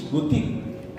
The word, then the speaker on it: Butig: Now, this is a mispronunciation. Bulasi is Barasi. Bulig is Butig.